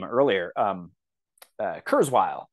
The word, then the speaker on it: Kurzweil: name earlier um uh Kurzweil and I think that's how it's pronounced it's like k-u-r-z-w-e-i-l um so he was